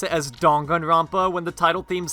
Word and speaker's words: Danganronpa: only say oh or they ask why I pronounce it as dongan rompa when the title themes say it dang I